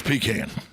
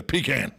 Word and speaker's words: pecan: don't pay it's georgia it's pecan there you go that's it say the word p-e-p say the word c-a-n can put them together pecan i love pecans i